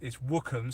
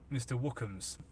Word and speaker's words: Wookums: It's Wookums, so it's WOOKHAMS. Mr. Wookums, like that. So hopefully that helps. Yeah, JJ, that's exactly it, Mr. Wookums.